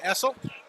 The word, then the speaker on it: Essel: Our next matchup, Avery Barry and Scott Essel rhymes with Ethel. Whistle. Whistle. Essel whistle.